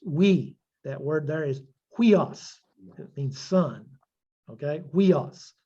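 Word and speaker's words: υἱός: like we pronounce it, huios. See, if you were to try to pronounce it without putting them together, you'd say uios. Well, but it's huios. But you never, when you're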